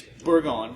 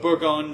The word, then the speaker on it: Bourgogne: very kind but but burgundy is Berg on burgundy is maybe the Anglo the English pronunciation but bourgogne that's that's what you're going to find on the label the French I'm sorry